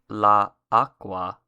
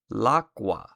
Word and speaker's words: l'acqua: For an example, instead of writing or saying the definite article and noun separately like this, in French, instead of saying la eau, and Italian, instead of saying la acqua, you would write it and say it like this. In French, it is l'eau. In Italian, it's l'acqua.